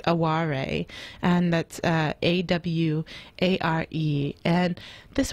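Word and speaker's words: 哀れ: So there is an element, and there's actually a foreign pronunciation of the word. It's aware, and that's A-W-A-R-E.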